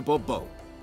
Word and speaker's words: Bourbeau: yet, as Monsieur de Bourbeau. I mean, you're kind of, I'll call you whatever I, fine. Next time I'll be snarky right back. Fine. Monsieur de Bourbeau. The emphasis falls on the last syllable.